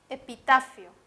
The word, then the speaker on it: epitafio: a escribir aquí fueron la palabra epitafio epitafio tiene la mayor fuerza de voz está la penúltima sílaba otra palabra podría ser